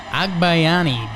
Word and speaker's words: Agbayani: How do you pronounce his last name? Agbayani. Benny Agbayani.